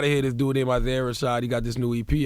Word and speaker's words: Isaiah Rashad: of Isaiah Rashad.